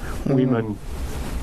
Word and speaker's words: Wemon: Wemon, W-E-M-O-N, spelled to rhyme with demon.